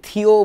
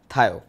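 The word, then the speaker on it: thio: যাই হোক, সালফারকে গ্রিক ভাষায় বলে হচ্ছে থায়ো, টি এইচ আই ও, এটার উচ্চারণটা অনেকে থিও বলে থাকেন, থিও অথবা থায়ো বেশি প্রচলিত হচ্ছে থায়ো, তো আমি থায়ো বলেই বলছি।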